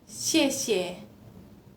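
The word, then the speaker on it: 谢谢: Jadi se kayak xie xie. Contohnya xie xie. Itu dibacanya S kan.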